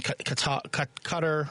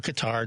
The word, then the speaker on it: Qatar: things look like in katar or Qatar depends on how you pronounce it uh when you go